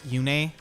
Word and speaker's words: Yune: I think Yune is probably the right pronunciation because I did see some argument I think on Reddit or Twitter that the Japanese word is basically to be pronounced like that, but the Radiant Dawn localization had it as Yune.